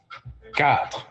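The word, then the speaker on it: quatre: of French so easy cat you guys got it cat is how we say four in French cat I repeat q u a t r e cat five how do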